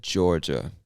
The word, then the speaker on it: Georgia: to say that but we say georgia georgia like the name george georgia you know and georgia